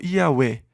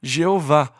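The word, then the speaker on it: Yahweh: quais eram as vogais o Consenso geral é que o nome seria pronunciado e a fé ou iaué mas em algum momento surgiu a pronúncia Jeová ou iavé que se tornou mais popular Mas e a fé ou iauê talvez seja a pronúncia correta embora não tenhamos certeza este é o nome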